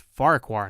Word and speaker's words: Farquhar: saying it right though I think that double F is silent just Farquhar not for Farquhar anyway Percy wasn't happy